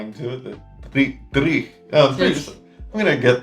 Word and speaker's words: dreich: Dreich. I'm still not even saying it right because I have the Australian in me, I think. Dreich. Yeah, you really got to roll your R's as well.